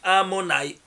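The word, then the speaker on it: Adonai: Parce que c'est la gematria de nom de Dieu Yud Kei Vav Kei, écrit et lu. Il se lit Amonai. Et s'écrit Yud Kei Vav Kei.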